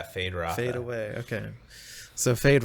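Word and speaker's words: Feyd-Rautha: Fade Rotha. As in Fade like Rotha. Fade away. Yeah, Fade Rotha.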